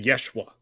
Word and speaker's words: Yeshua: Anyway, if you just listen, whenever they say Jesus, they don't say Jesus, they say Yeshua. Yeshua. Yeah, I was going to say Jesus's name in in Hebrew and Aramaic is Yeshua and not Jesus.